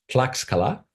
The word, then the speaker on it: Tlaxcala: I'd like to move on to another society, which I think I've pronounced correctly as Tlaxcala. At least a native of that city tells me that's a reasonably close approximation.